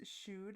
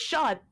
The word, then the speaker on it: shod: I want to say it's shoed and not shod. I know. No, it's shod. It's shod.